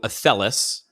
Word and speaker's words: Athelas: So athellis, I'm probably going to say it wrong because No, that's right.